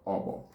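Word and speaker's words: okpo: Worm is called obo in Igbo.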